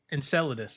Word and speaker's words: Enceladus: Enceladus. Actually, I do know how to pronounce this one.